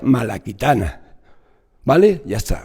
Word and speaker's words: Malacitana: Traditio Malacitana, que se pronuncia Malaquitana.